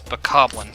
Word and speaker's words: bokoblin: But it's technically it's bokoblin to rhyme with goblin.